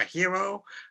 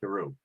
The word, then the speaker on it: Heroux: There's 3 different ways: Hero, Hero, Heroux. And whatever rolls off my tongue.